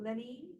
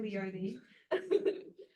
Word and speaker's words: Leonie: And we've got Lenny.